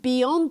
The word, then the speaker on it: beyond: The word is not pronounced beyond. Beyond. It's pronounced beyond. Use the open a sound like hot and stop. Not the o sound, but the a sound.